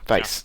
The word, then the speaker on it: Weisz: Rachel, whose last name I can't pronounce, will be in it too, according to Setalia. Rachel Weisz. Weisz, thank you.